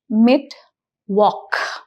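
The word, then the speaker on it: Mittwoch: The next peculiar pronunciation that we must observe is the pronunciation of mitwalk. So if you see the sound here o saya that is o c h becomes c. So the sound here is mid walk.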